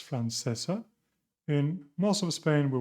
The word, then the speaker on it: francesa: So the first one would be francesa, as Jot says, suena como cero.